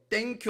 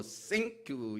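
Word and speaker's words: thank you: 뭐라고 합니까 예 aq 그 땡큐 하면 난전이 그냥 토속적인 발음 이고요 생과 땡 에 사이를 발음을 해야 된다고 해요 예 그 사이로 쉥크 이렇게 얘기 해야 된다고 합니다 근데 그땐 교라고 하는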